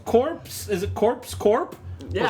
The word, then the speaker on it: Corpse: He's doing Corpse Corp. It's pronounced Core. Sorry. You don't pronounce the P.